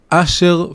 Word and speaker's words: Asher: is the way the that's the ashkanazi the Polish ashkanazi way of pronouncing the name Asher aser is one of the 12 tribes but it's pronounced as user and he was known